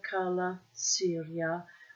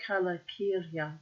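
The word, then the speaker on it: Calacirya: It could be Cala Kyria too. C is supposed to be pronounced K, but I like Cala Syria better.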